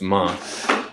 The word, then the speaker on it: Man: the region of ma it's spelled like man but you leave off the N so it's month um but that area